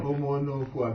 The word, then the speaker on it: Omonokhua: Have I pronounced that name well? Omonokhua. Omonokhua.